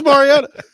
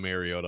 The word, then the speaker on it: Mariota: say his name I just said it Marcus Mariota by the way uh yeah do that he came in the other day and too called him marota I'm like oh man it'll never end it'll